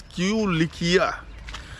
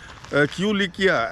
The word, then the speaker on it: Kulikia: West is q likia Hyun sang mispronounces it as Q Licia and what do you call it uh kulikia and the village over